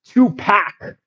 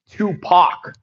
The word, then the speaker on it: Tupac: and even till now, they would pronounce Tupac as Tupac, okay? But if you're like, really hood or Afrocentric or want to be very correct in how to pronounce it, it's Tupac.